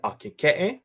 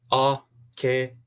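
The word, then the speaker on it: ʻAkekeʻe: Then we move down into the Akeke'e, which we have is A-ke-ke-e. A-ke-ke-e.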